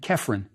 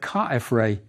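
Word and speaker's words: Khafre: We will see Re in the name of his successor also, Ka-F-Re. The Greeks pronounced his name Kephren, but we can see from the hieroglyphs that Ka-F-Re is closer to the original.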